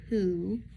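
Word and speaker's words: Pou: Now I've got um a game called Pooh. Uh P O U is what it's spelled.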